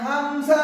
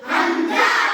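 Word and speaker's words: همزة: সুকুন থাকলে আলিফকে কখন হামজা বলা হয় হারকাত তানবিন সুকুন থাকলে আলিফকে কখন হামজা বলা হয় হামজা উচ্চারণ কেমন হবে হামজা উচ্চারণ কেমন হবে হামজা হলকের শুরু হতে শক্তভাবে আদায় হবে হামজা হলকের শুরু হতে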